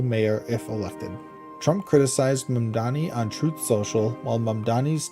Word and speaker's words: Mamdani: From Fox News, Zohran Mamdani fires back at White House mispronouncing his name, Mamdani. Zohran Mamdani, New York City mayoral candidate, clapped back after the White House mispronounced his name as Zamdani in a viral TikTok set to Hollaback Girl.